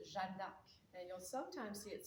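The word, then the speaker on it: Jeanne d'Arc: official name is now her name in French is Jandak and you'll sometimes see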